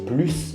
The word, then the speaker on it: plus: situations avec un objectif avec adverbe on ne prononce pas le s plus grand plus vite avec verbe et avec un nom on prononce le s par exemple travailler plus ou alors plus de